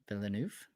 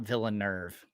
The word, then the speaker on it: Villeneuve: that's good oh Villeneuve villeneuf okay now people people are trolling me with incorrect pronunciations it's not villain nerve get out of here